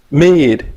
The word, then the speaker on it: Meade: Meade. Meade, just like Like me. the Okay. yeah, like the notebook paper.